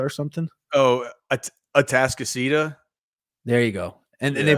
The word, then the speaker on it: Atascocita: I can't pronounce the school, but it was like Anticosta or something. Oh, Atascocita.